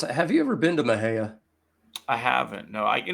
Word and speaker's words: Mexia: no Maha one of them said no it's pronounced Maha and the other one said no it's Mexia and so they went into the first place